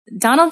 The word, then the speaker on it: Domhnall: days so I'm gonna Donald Gleeson is is amazing yeah so yeah definitely how do you say his name I said it right Donal yeah you were talking